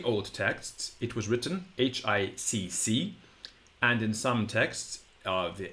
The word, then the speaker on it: hic: some languages up there that have this double syllable at the end of the word. We don't have it in English. Hic. Hic. And indeed, in some very old texts, it was written H-I-C-C.